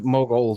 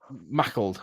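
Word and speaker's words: Maughold: it up to the Mogold, or however you pronounce it, lighthouse. Mahold. Mahold. Mahold, like pickled, but Mahold. Mackled, okay. Yeah, Mahold.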